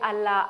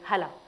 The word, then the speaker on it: Hala: Il se moquait de mon prénom parce qu'il disait Allah, Allah c'est Dieu, Allah Akbar, Allah, Allah, machin. Et je leur disais non, c'est pas Allah, c'est Hala. Mais allez expliquer, allez faire prononcer le H, etc.